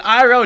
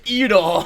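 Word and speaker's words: Iroh: realized they tried to they changed the names to try and sound more Asian like they changed Ang to on like angu and Saka to SOA and iro to EO oh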